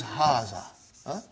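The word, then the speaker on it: هٰذَا: is explaining the key also so it is huzzah okay haza means this and - means a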